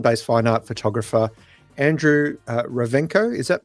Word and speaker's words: Rovenko: fine art, Melbourne based fine art photographer, Andrew, Ravenco. Is that pronounced correctly, Andrew?